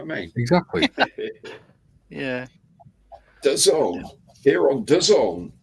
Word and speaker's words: DAZN: Dazing? And you see an advert, the zone, DAZN, Really? the zone.